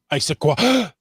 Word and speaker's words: Issaquah: My husband and I went to, how do we pronounce that, Chris? Issaquah.